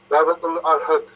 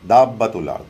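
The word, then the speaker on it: Dabbat al-Ard: The same brother and sister is asking the meaning of Dabatul Arhad, something like Dabatul Arhad, if I'm pronouncing correctly. Ehdi Alast. Dabatul Arhad. Dabatul Ard. Dabbatul Ard.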